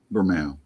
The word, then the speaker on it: Bermejo: We also have a huge, beautiful Lee, say his name right, Bermejo? Bermejo. Yeah, Lee Bermejo.